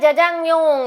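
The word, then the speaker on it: 짜장면: இந்த நூடுல்ஸோட correct pronunciation என்ன அப்படின்னா ஜஜாங்மியோங் அப்படின்னு சொல்லியிருந்தாங்க.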